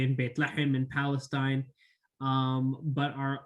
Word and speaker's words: Bethlehem: who are bethlehem natives bethlehem uh in english pronounced bethlehem just uh to clarify for those who are uh asking me what's baitlachem um okay so uh